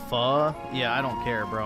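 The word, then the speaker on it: Phở: FO is pronounced fu.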